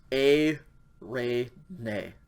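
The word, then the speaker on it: εἰρήνη: again smooth breathing mart just pronounced the um diphthong sound so this one is a ray nay and this is a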